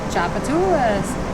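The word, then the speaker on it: Tchoupitoulas: You will get to learn how to pronounce those words. Like Chapatoulas.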